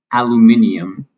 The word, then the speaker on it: aluminium: Um, the British and and Australian have an extra letter in it uh or an extra syllable and in this case it is stressed aluminium.